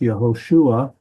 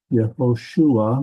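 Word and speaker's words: יהושע: So, in Hebrew, Joshua is pronounced Yahosua. Yahosua.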